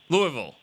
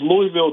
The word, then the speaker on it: Louisville: Louisville. Yeah, Louisville.